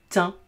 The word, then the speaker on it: thym: un pain, lapin, au, ici j'ai un H muet, donc je vais faire T et un, tin. Vous savez, du thym.